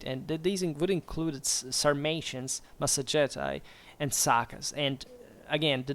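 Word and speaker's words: Massagetae: were quote formerly called masetti uh masetti actually or Masti if you want the classical pronunciation u in fact deasus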